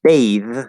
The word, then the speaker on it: bathe: But then there's bathe, where the vowel changes and it becomes a voiced th. That's the verb to bathe. You can't say to bathe. That's not a word with voiceless.